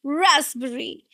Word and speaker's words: raspberry: Again the stress is on the first just like strawberry. It's raspberry. The sound is z. No z. Raspberry.